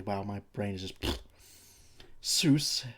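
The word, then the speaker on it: Soos: Seuss, better than Sue, but still is a bizarre name.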